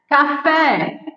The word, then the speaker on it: café: terminada em a né café Ah ela é oxítona terminada em e tem acento e né Parabéns ela é